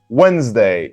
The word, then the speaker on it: Wednesday: D is silent. Wednesday, not Wednesday, no, Wednesday.